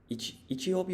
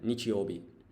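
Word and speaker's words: 日曜日: Is it Ichiobi or Nichi? I think it's with an N. Nichiobi.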